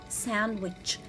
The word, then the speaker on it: sandwich: have the word sandwich i cannot read it sandwich no i will not read it sandwich but i will read it sandwich so here letter d is a silent letter in this word so let's read the